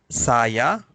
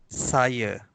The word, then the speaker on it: saya: So if you find any Malay words, the end with A, so the normal pronunciation is saya, the R sound. But if the word end with A, in spoken Malay, we pronounce it as the schwa sound.